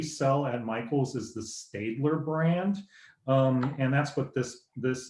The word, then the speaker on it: Staedtler: The brand that we sell at Michael's is the Staedtler brand.